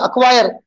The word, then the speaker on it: acquire: यहां भी सी साइलेंट है. एक क्यू का साउंड हो रहा. acquire.